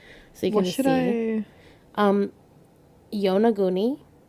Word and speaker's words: Yonaguni: Yonaguni, why it's spelled just like it sounds.